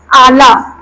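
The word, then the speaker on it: اعلیٰ: लाम के ऊपर खरा ज़बर लगा देंगे तो ये क्या बन गया? आला बन गया।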